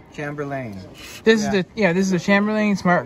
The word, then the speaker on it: Chamberlain: So, people, this is the Smart Garage Door Controller, and this is made by, how do you pronounce this word? Chamberlain? It's Chamberlain. Chamberlain.